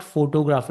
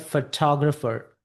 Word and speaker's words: photographer: Or it is not photographer, it's called photographer. So you have to keep that stress, photographer, observe, right?